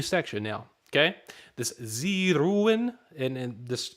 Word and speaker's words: ruhen: This Sie ruhen, and this, so we all know the H is silent. Sie ruhen.